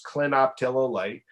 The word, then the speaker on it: clinoptilolite: occurring zeolites we use a zeolite called clinoptilolite and it's spelled just like it sounds clinoptilolite naturally occurring zeolite the